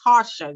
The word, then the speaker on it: Tarsha: She always wants to kill me about it, but it's actually Tarsha, y'all. So with the R, all right?